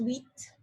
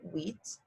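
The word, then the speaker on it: huit: pretend it's sct set eight is wheat the hu makes a wha like a w sound so wheat nine is nif and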